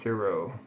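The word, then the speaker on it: Cero: It's pronounced Zero.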